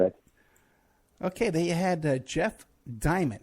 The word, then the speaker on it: Diamant: Diamant, thank you so. I got your name wrong.